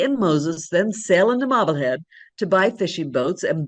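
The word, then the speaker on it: Marblehead: the shiny new hamlet of Mobblehead. You have to say it like that. Mobblehead and generously includes her husband Moses when he starts New England's cod fishing industry.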